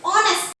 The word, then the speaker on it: honest: इसमें H silent है, इसे हम हॉनेस्ट नहीं बोलेंगे।